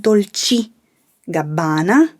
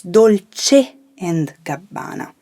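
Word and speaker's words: Dolce & Gabbana: in the clothing industry remember to say all the final vowels it's not dolce gabbana it's dolce and cabana another top designer often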